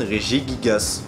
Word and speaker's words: Regigigas: explique pourquoi la prononciation du deuxième syllabe se prononcent de manière différente et du coup lorsqu'on rassemble ces deux partis ça donne régis gasse déjà je vais pas vous mentir que samaranch